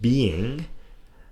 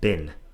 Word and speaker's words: being: pronounce some speakers so make sure that being doesn't sound like bin okay make sure you pronounce the G and likewise with help